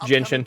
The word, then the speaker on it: Genshin: Here's a look at 2 new characters coming December 14th to Genshin Impact, and the first it's pronounced Genshin.